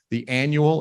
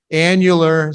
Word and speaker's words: annular: written I know it the annual Eclipse I know you have seen it annular say it with me spell it out